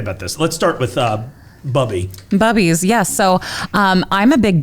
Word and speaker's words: Bubbies: Here for Bubbies. Oh, they even put the pronunciation on there because they were like, somebody's going to call this Boobies.